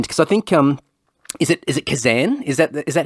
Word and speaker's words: Kazan: I've got a friend, because I think, is it Kazan? Is that how you pronounce the... Yeah, Kazan, I was at, Kazan.